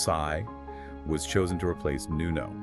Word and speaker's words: Psi: So the Greek letter sigh pronounced sigh was chosen to replace Nuno.